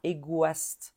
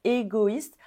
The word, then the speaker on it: égoïste: I pareil pour W si on ajoute un accent tréma sur la lettre I ça casse le son it breaks the sound W par exemple selfish on dit ïste on dit pas égaste on dit égoïste à cause ou grâce